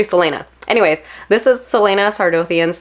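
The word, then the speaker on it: Celaena: head my stupid head I pronounce her name kalena so I I said that name throughout like the whole book series when I was reading it and it's actually Selena anyways this is Selena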